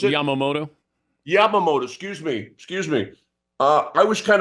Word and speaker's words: Yamamoto: How you pronounce it? Yamamoto.